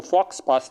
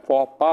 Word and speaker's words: faux pas: ये French term है, इसका मतलब होता है, इसकी प्रोनाउंसिएशन देख लीजिएगा, इसके अंदर हम इसको फॉक्स पास नहीं पढ़ते, फॉ पा पढ़ते हैं।